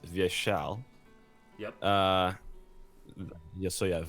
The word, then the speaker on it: Vyeshal: first I'll make a small correction so it's pronounced via shell yes oh yeah via shell it's it's a great example of this thing